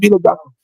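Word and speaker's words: Milla Jovovich: You were trying to pronounce it. Yeah. Her name is Mila Djokovic.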